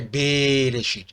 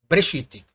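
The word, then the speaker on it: בְּרֵאשִׁית: Ele não está dizendo que é Bereshit, ele fala que é Breshit, ok?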